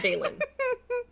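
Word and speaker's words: Veylin: It's V E Y L I N. Oh, but it's pronounced Balen. V E I Okay, that's a fine name.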